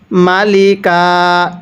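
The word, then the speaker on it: مَلِكًا: দুই জবর কান মালিকান এখন যদি আমরা এখানে ওয়াকফ করি তাহলে মালিকা দুয়াকফের সময় এরকম দুই জবরের পরে যদি একটি খালি আলিফ থাকে তাহলে সেই দুই জবরের মধ্য থেকে একটি জবরকে বাদ দিয়ে আরেকটি জবরে এক আলিফ টেনে পড়তে হয় কিভাবে পড়বো মালিকা এখন অনেকেই প্রশ্ন করতে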